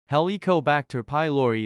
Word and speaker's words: Helicobacter pylori: H pylori heliobacter pylori pronounced helicobacter pylori is a type of